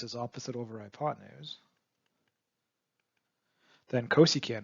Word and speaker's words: cosecant: of sine x is actually cosecant is how you say it which is csc and